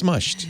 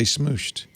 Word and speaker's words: smushed: that like that's true is it pronounced smushed or smooshed i think we need uh it's like a jif jif gif uh this might just be a new england thing where we're mispronouncing it as we would no no no i think it's smushed it's spelt smushed but i think there are those who say smooshed they do they do